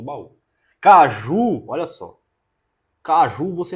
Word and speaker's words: baú: aqui é sílaba tônica você fala baú não é Bau ele tá sozinho acento